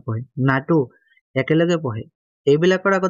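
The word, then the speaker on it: NATO: হু বলি পহে whoও বলে গুলি ন পহে নাটো একে লগে পহে এগুলা আগে দেখো দা নহেব যে নাকি সিঙ্গেলকে ইউজ কি কয় উচ্চারণ করা হয় যেন ইউএসকো ইউনেস্কো হু নাটো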